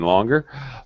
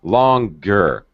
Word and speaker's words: longer: There's no three in longer. Longer. Longer. So now all of a sudden, yes, you can hear it.